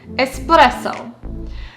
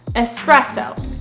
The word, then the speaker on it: espresso: But if you want to say it in the most authentic way, close to the Italian 'espresso', you want to say it without the /k/ sound, ESpresso, ESpresso.